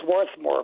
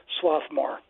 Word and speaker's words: Swarthmore: be correct there there there's an R there it it should be Swarthmore but people say swathmore all right we got